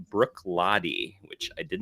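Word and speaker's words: Bruichladdich: i picked up a couple weeks ago it's pronounced brook lottie which i did not think that was how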